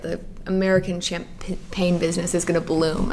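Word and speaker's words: Champaign: but it's spelled differently. Oh, okay. Yeah. Damn. Yeah, it doesn't have like the GN. They don't need to know. Yeah, the phonetic spelling. It still sounds the same.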